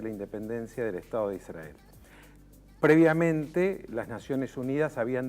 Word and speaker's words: Israel: la declaración de la independencia del Estado de Israel.